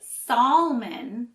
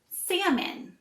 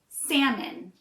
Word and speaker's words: salmon: word we don't say sallman again the L is silent so we say salmon and the second syllable sounds like min instead of an O sound we don't say Sam Mon we say salmon now let's try it